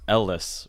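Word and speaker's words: El-Les: which are brick and Ellis right yeah it's pronounced like just the letters LS yeah but it's not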